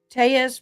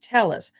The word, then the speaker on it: Telles: worn to the gym his name is per pron pronounced Tes because of the double L but when it becomes a politician he started saying tell us thank you Haley Mouse